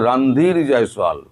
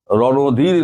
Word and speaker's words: রণধীর জয়সওয়াল: ভারত বলেছে রণধীর জয়সওয়াল, আপনারা ভুল উচ্চারণ করেন, ওনার নাম হচ্ছে রণধীর জয়সওয়াল, রণধীর নয়।